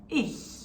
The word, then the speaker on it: ich: Ich.